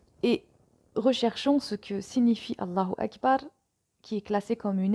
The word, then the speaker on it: Allahu Akbar: Ici, Allah étant sujet de la phrase Allah est le plus grand, il prend donc la flexion du nominatif qui se marque par l'ajout de la voyelle brève ou, prononcée ou, à la fin du mot.